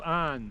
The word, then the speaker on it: Avon: derry and i'm now at the ford's of anne it's pronounced and as far as i'm aware after